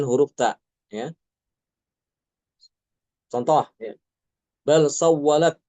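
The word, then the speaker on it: بل سولت: Bal sawwalat dibacanya bas sawwalat.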